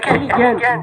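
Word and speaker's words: elegant: उसका फिर जो है आगे लिखा हुआ है कि एलिगेंट, देखिए एलिगेंट GA, यहाँ पे GE होता है तो क्या होता है, इसका उच्चारण होता है ज, तो एलिगेंट poetical pros is best kept in his autobiography.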